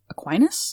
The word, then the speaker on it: Aquinas: 8 sins to it, and then Saint Thomas Aquinas, I think that's how you pronounce the last name? Yeah, Tommaso d'Aquino, yes, Aquinas.